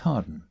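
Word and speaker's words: Hawarden: surname spelled Howard, but as with the village near Dodleston, locally pronounced Harden.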